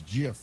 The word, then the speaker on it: GIF: deal and he said it's GIF like Jiffy peanut butter and the Jiffy people